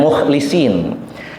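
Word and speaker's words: مخلِصين: Ada sebagian ahli qiraah membacanya mukhlasin, ada membacanya mukhlisin.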